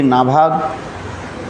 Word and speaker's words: नभग: कल हम लोग श्रवण किया था अम्बरीश महाराज की परंपरा की कथा श्रवण किया था, जिसमें नभाग के पुत्र हुए नाभाग और नाभाग के पुत्र हुए अम्बरीश।